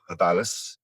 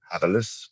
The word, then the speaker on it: habilis: All the fats, proteins, our brains expanded, and Homo habilis, or habilis, whichever way you want to pronounce it, evolved quite quickly in the overall scheme of things.